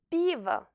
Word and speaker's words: пиво: Et пиво, la bière. Пиво. Ici, le O non accentué se trouve après la voyelle accentuée. Il se prononce donc comme un A bref.